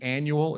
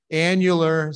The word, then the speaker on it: annular: producers have actually written I know it the annual Eclipse I know you have seen it annular say it with me spell it out the